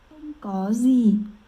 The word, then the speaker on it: Không có gì: Không có gì.